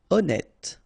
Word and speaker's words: honnête: Honnête. So remember, H doesn't exist. Honnête.